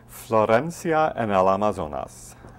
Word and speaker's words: Florencia en el Amazonas: this is the second Opera in your season pronounce the name of the Opera for us so we all get it right Florencia and Al amazonas this is going to sound familiar to our